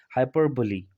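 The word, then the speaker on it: hyperbole: तो यहाँ पर भी ये साइलेंट नहीं होगा, इसको भी पढ़ा जाएगा। तो हम इसको क्या पढ़ेंगे? हाइपरबोली।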